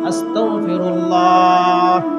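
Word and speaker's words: أستغفر الله: পড়বো আস্তাগফিরুল্লাহ আসতা এই এখানে গাইনের উচ্চারণ গর উচ্চারণ করতে হবে কাফের উচ্চারণ কর উচ্চারণ করা যাবে না আস্তাক এই কফ না এই কয় উচ্চারণ করা যাবে না বলতে হবে কি আস্তাগতা তাহলে হবে ক্ষমা চাওয়া আর যদি কয় উচ্চারণ আসে মারাত্মক ভুল হবে উচ্চারণ আসলে মারাত্মক ভুল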